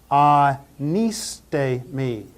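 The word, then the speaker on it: ἀνίστημι: Let's pronounce this word anistemi, anistemi, anistemi, anistemi, anistemi.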